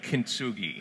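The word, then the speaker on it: kintsugi: the book this this ancient Japanese technique yeah kinsugi yeah is that how I pronounce it yes tell us about this artistic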